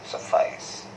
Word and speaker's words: suffice: And this has been created by the poet itself to make it rhyme with eyes, suffice.